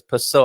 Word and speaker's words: Pascoal: So it's Pascoal. I've pronounced it all wrong. Pessoa, yeah. Pascoal, Yeah, okay.